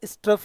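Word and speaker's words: strophe: बहुत से लोग इसका उच्चारण गलत करते हैं। इसे छंद कहते हैं। नहीं, यह स्ट्रोफ़ है।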